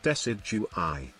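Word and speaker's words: Decidueye: You pronounce it Decidui. Decidui, nice.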